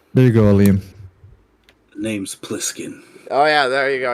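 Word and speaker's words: Plissken: saying it right let's make putkin is it pliskin yeah p-l-i-s-s-k-n Wallace BlizzCon anyways carry on carry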